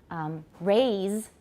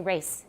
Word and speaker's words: raise: Because in Taiwan English, lots of times people neglect to pronounce the Z's, right? So instead of saying, for example, raise, 就是提高, raise, people will say race.